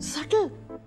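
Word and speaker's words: subtle: जा बाय दस मिनट और रोक लेता उसको सटल ये होता है सटल आपको सटल का स्पेलिंग भी पता है SUBTL सटल सटलनेस अरे बी साइलेंट होता है डिक्शनरी में चेक कर लो सटल B silent Akshay सेलिंगा सेट यू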